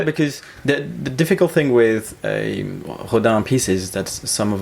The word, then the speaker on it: Rodin: I wonder if anyone listening is thinking, I don't know this Rodin guy. It's Rodin. I don't know, maybe exactly. foreigners pronounce it differently. Rodin. Sometimes Rodin. Rodin, sometimes, Sometime. but Rodin. Rodin, yeah.